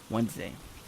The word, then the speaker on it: Wednesday: We will just have to see on next episode on Wednesday, or how I like to pronounce it because it makes no sense how the D is silent.